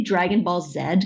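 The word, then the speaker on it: Dragon Ball Z: go away you watch Dragonball Z and oh yeah and I go it's actually Dragon Ball said cuz I'm Canadian and I think like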